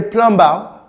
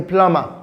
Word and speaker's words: plumber: And you say, I want a plumber, which is the wrong pronunciation. It should be, I want a plumber.